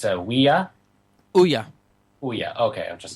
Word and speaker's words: Ouya: So from that point forward, you're like, yep, it's Ouya.